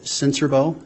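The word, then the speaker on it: Sincerbeaux: spell your last name my name is censorbo and my last name is spelled s-i-n-c-e-r-b-e-a-u-x sir how are you employed um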